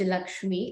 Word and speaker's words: LXME: Yeah, we write it as LXME, but it's pronounced Lakshmi, and it's a very Gen Z way of writing Lakshmi, as people say.